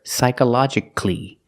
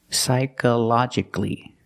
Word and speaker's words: psychologically: the a psychological but with c-a-l-l-y the a is silent so you hear psychologically at the end psychologically remember that p is